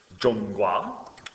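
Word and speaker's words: 中国: And um just to remind you what that looks like here we have Jong Gua uh which is Chinese for China and uh this is pronounced Jong and this is pronounced gua.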